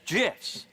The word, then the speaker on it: GIF: the graphics interchange format Steve Wilhite says it's gifs choosy developers choose gifs I've never been